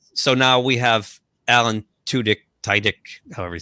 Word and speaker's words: Tudyk: Tudyk? Tudyk? Yeah, Tudyk.